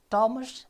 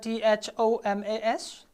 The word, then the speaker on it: Thomas: of our story is Thomas and Jerry how do you pronounce the word t h o m a s it's not Thomas it is Thomas right it so let